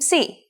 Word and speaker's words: psi: If you ever forget how to pronounce this letter, just remember, psi is for Poseidon and his trident.